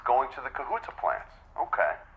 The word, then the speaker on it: Kahuta: quota client is ready it's going to the kahuta plants okay kahuta is that the correct pronunciation am I saying that right yes okay